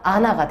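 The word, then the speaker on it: 않아: 발음하니까 안하가 아니라 아나가 되는 거지.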